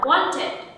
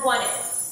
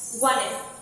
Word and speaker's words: wanted: Âm d ở kết thúc từ đó sẽ là âm d stop, tức là không wanted, not really wanted, wanted, wanted.